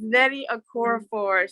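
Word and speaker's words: Nnedi Okorafor: And I was waiting to let her pronounce the name. Yes, it's Nettie Okorafor.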